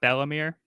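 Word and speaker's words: Bell-mère: As a kid, I pronounced it Belmare, but that's how I probably would have. I think I've heard people say Belmere, but I go with Bellamere. Works for me. And I think that's the way that the dub pronounced it as well.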